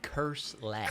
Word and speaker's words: Kirslis: Curse less. Curse less. Cuss more and curse less. Oh, curse less. Yeah. But it's not spelled like that. I know. It got misspelled as...